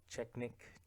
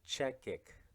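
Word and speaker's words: Chechik: know who um Adriana checknick check is she's a porn star wait I think I said a name last name wrong Adriana check kick her last name or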